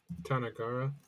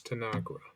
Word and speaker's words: Tanagra: Let's see how you pronounce it. Tanagara. My computer is dreadfully slow. I simply must apologize. Yeah, what a wonderful world. Why is it so hard to just find a pronunciation? Fine, I'll watch a video. Let's hear it. Come on now, man. Load. Load, damn you, load. Ball. Another loading screen. Tanagra. Apparently it's Tanagra.